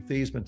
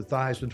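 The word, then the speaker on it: Theismann: we think by just simply changing the pronunciation of your last name from Thesisman to Thyman to rhyme with Heisman, we can get you that trophy.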